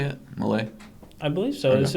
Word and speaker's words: Milei: Milei? I believe so. Okay. Is it? Have you heard another person? I don't know. Oh, I believe it's Milei.